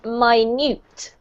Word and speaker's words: minute: word here means very very very small it's pronounced minute yep straight fence fancy yep all right um